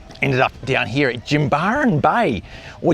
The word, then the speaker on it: Jimbaran: up down here at Jimbaran Bay or Jimbaran as the locals would say. Those A's are pronounced with a ah sound, Jimbaran.